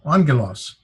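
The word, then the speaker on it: ἄγγελος: this is odd however because there are two gums together it doesn't get pronounced like get trounced like I was giving you on that's that's our new so a news and n sound so you pronounce this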